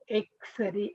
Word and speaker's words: X-ray: If you pronounce it, it begins with A. So X-ray, X-ray.